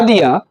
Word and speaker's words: the: हमने बच्चों इसलिए ये बता दिया ताकि बच्चों बहुत से शिक्षक लोग हैं दो टाइप से पढ़ते हैं बच्चों, उनके उच्चारण पर ध्यान देना होगा।